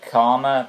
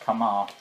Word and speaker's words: Kama: last beast quest review I said karma because they thought it was a shame but no it's a male so it's gonna be pronounced come on anyway it's revealed he's